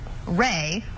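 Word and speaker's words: Rae: Ray, which is spelled R-A-E, is ear backwards.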